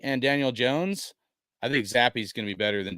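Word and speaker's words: Zappe: Is that how you say his name, Zappi? Yeah, but a lot of people pull the Zappi.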